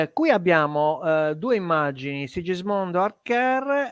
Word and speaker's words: Arquer: Archer vuol dire arciere, si scrive Arquer ma si pronuncia Archer, ed è un sagittario che lancia una freccia.